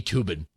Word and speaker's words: Toobin: legal analysis from me toobin the last name is very unfortunate because it rhymes with lubin there's just too much